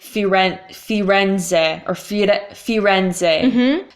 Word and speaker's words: Firenze: so in English people would say you rent Firenze or Fiat a Firenze mm-hmm so we tend